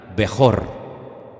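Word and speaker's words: בכור: La palabra primogénito en hebreo se pronuncia así como la tienen ustedes en la pantalla, Bejor. Y hay una palabra que suena muy parecida, que es Berajá. Bejor, Berajá.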